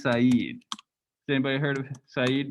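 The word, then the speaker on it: Said: guy before it looks like his name is sed but it's pronounced saeed has anybody heard of saeed before so he's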